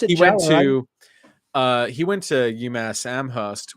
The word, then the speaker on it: Jawer: Jeff Yeah, Jower, yeah, he pronounced it he went Jower.